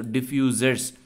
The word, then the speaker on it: diffusers: Library just remember that this is not f u s e it's u z e so diffusers is the right pronunciation I'm not an I'm